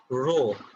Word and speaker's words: rho: Density symbolটা খেয়াল করে দেখো, this is a Greek letter যেটার pronunciation হলো rho, তাহলে rho is equal to mv.